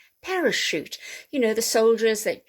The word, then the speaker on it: parachute: at this one so in general words originating from french will have a soft ch like the sh sound okay so we have para shoot parachute you know the soldiers